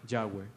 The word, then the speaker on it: Yahweh: We have to pronounce the name, Yahweh.